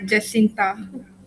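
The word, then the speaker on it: Jacinta: It's pronounced Jascinta.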